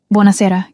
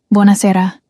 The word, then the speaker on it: Buonasera: "Buonasera, good evening." "Buonasera," she repeated. Her pronunciation was terrible. "Buona sera," he corrected gently, emphasis on the second to last syllable.